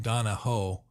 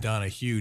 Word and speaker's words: Donahoe: And Donahoe, as opposed to Donahue, up around Longford, you're going to find the spelling and the pronunciation more like Donahoe instead of Donahue.